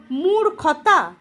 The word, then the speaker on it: মূর্খ: উচ্চারণে দেখো মূর্খ মূর্খ যখন আমি উচ্চারণ করছি রটা খ এর আগে উচ্চারণ হচ্ছে মূর্খ যেহেতু রটা খ এর আগে উচ্চারণ হচ্ছে তার জন্য খ এর মাথাতে চিহ্নটা বসছে।